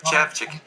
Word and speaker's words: Szewczyk: do cins a gente tem aqui hoje Peter CH e é isso mesmo pronunciei certinho o nome dele porque eu perguntei